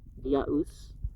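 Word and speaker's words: Dyaus: Dew is a nominative of diaus, and must be pronounced diaus.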